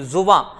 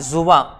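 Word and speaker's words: ज़ुबां: जुबां, इसका उच्चारण क्या रहता है, जुबां। जा पे नीचे नुक्ता लगेगा, बा पे अंकी बिंदी, जुबां।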